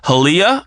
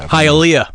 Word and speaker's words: Hialeah: SK I and n E are it Skinner halia I think it's how you pronounce it Florida Hialeah Hialeah my life highlights a sport that I